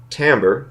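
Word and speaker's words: timbre: the semester these are respectively melody rhythm harmony tambor you'll notice that spell timber in your module but it's actually pronounced Tambor dynamics and articulation there's a table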